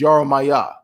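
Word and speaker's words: ירמיהו: that's that's different yes do you know what jeremiah is in in hebrew in j and he in real ancient hebrew on jeremiah is yara maya yaramaya yara maya that is how you say jeremiah in ancient hebrew okay yaramaya me all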